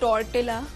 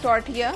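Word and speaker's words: tortilla: टटिया corns बनाए हां जो नॉर्मली लोग बोलते हैं टॉर्टिला गलत बोलते हैं ब गलत बोलते हैं टर्टिया एल्स जो है वो साइलेंट होता है अच्छा वो लेकर हमने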